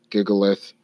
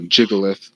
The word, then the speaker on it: Gigalith: So generally his defense is going to be some sort of combination of Girder, Gigalith, or Jigalith, sorry, gotta say it right for Wolfie, Sylveon, and Vikavolt.